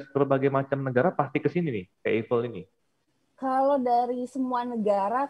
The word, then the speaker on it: Eiffel: Indonesia atau luar negeri kebanyakan bacanya Eiffel nah tapi kalau belajar Chandra cicak baca yang benar Eiffel katanya gitu ya kita